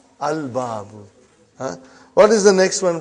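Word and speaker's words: الباب: Moon letter. You did pronounce lam. Al-babu.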